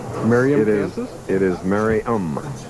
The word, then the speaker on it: Merriam: For years, I've been pronouncing their hometown differently from what it's really pronounced. Merriam, Kansas? It is Merriam. Merriam, Kansas.